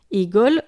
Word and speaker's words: ঈগল: আমরা ঈগল শব্দটি উচ্চারণ করতে ই উচ্চারণ করি, ই ধ্বনিটি উচ্চারণ করি। এখানে ঈগল, আমরা ই শব্দটি একটু দীর্ঘ সময়ে উচ্চারণ করি, ঈগল। আগে করেছিলাম ইট, ইটা খুব দ্রুত উচ্চারণ করেছিলাম তাই না, ইট। আর এবার বলছি ঈগল, এখানে ই শব্দটি একটু দীর্ঘ সময় নিচ্ছে, এটি দীর্ঘ ই, এটি দীর্ঘ ই।